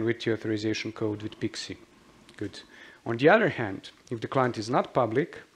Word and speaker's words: PKCE: And if it is, then you use the authorization code with PIXI. That's how this is pronounced.